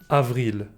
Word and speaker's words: avril: April becomes Avril. Only one letter is different, but the pronunciation of VR might be difficult. Avril. Avril. May becomes Mai.